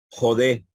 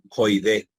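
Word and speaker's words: ᾠδή: Jodé, ¿verdad? Jodé, no se pronuncia allí joide.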